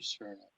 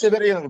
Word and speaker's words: Severinov: Severnov. Okay, let's take him off mute and let him be available. Mr. Severnov? Yes. I have a question. My last name is Severinov, by the way.